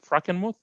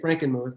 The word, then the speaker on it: Frankenmuth: i pronouncing it right frankenmuth moth yeah we say frankenmuth because we just uh americanize it but in the classic german it would be more like frankenmuth it's a german towns